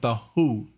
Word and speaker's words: The HU: to be confused with the Who, the band. Says the Who is stylized as the HU, pronounced as the Who, like the band, is a Mongolian folk